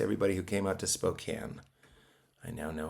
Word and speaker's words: Spokane: And thanks to everybody who came out to Spokane. I now know how to say it. It's Spokane, not Spokane.